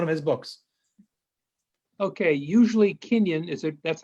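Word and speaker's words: kinyan: quote from one of his books okay usually kenyan is it that's how it's pronounced yep kenyan usually kenyon refers to a mode of acquisition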